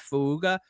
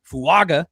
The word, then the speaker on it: Fuaga: You have Fuga. I I know I didn't pronounce that correctly. Tyrese Fuaga. There we go.